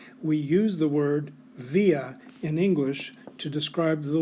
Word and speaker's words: via: quickly and easily via via now i want to remind you that the v always sounds like a w in latin so in this class